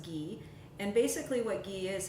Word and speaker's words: ghee: use something called Gea's it's pronounced or it spelled ji-hae and it's pronounced ghee and basically what ghee